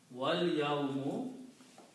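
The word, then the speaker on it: وَالْيَوْمُ: So, you pronounce wal, so do not pronounce this alif. So this becomes again a hamzatul wasl, small swad. So that's what this one is there. So the word is pronounced as wal yawmu, and the day.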